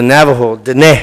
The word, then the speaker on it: Navajo: of Bigfoot lives in the mountains in the Navajo it's the correct way to say Navajo they